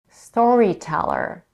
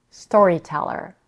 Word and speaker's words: storyteller: Storyteller is a compound noun, and the first part of the word story is stressed. The first syllable is stressed, while the first syllable of the second part of the word, teller, receives a secondary stress.